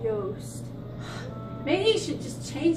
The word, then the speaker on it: Yost: It's Yost. Maybe he should just change his last name so people can pronounce it.